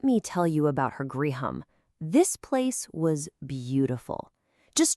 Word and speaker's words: griham: The story says he went right to her griham. And hey, that's our first Sanskrit word of the moment. How cool is that? It's pronounced griham. Can you say that? Griham.